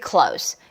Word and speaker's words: close: 끝소리가 다르죠. 끝소리가 가까운일 때는 close S로 끝났고요. 자, 뒤에는 드 다음에 z가 붙었어요. 이럴 때는 소리 어떻게 내요를 알아야 되잖아요.